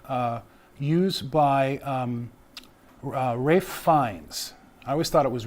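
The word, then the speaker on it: Ralph Fiennes: Uh, it's a Voldemort wand uh, used by um, uh, Rafe Fines. I always thought it was Ray Fines, but it's Ralph Fines, but it's Rafe Fines is how you pronounce it.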